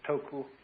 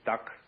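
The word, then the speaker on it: 德: of this word death the Japanese pronounce it toku the Cantonese duck and the northern mandarins approximately death and in the section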